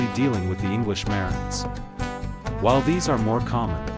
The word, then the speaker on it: Marans: The correct term is always Marans, with the plural form in mind. Another thing to note when pronouncing the name is that the S at the end of Marans is silent.